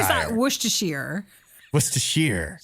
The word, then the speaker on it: Worcestershire: Worcester is I guess it's Worcestershire. I always thought Worcestershire. Worcestershire. Sheer. Like Shire, but See, sheer.